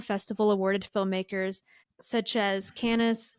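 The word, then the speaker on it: Cannes: awarded filmmakers such as canis is it pronounced canis cans cans thank you such as cans Berlin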